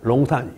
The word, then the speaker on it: 룽산: 그래서 원래는 나 어릴 때는 용산이라고 배웠어, 대학 때. 근데 지금 뭐야? 롱산. 그러니까 약간 혀를 좀 힘을 빼요.